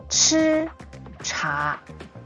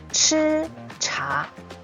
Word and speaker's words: 吃茶: So, this is how you write 吃, and follow me with the pronunciation. 吃茶, 吃茶.